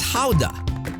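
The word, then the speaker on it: Gouda: the world here the cheese is known as Howa named after the town where it has been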